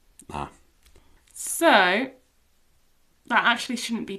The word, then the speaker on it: alta: in a consonant, but because it's spelled this a l t, we actually have to pronounce this t now. So, alta. alta So, that actually shouldn't be too difficult.